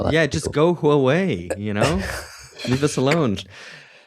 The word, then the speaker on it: Huawei: I was like, please please guys just learn how to pronounce Huawei. It's not that Yeah, just go Huawei, you know?